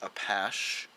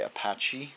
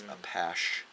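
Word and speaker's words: Apashe: It's pronounced Apache. So now I know. A lot of people say Apache, but it's like with a SH, so it's Apache. Or Apache if you're French, like he is.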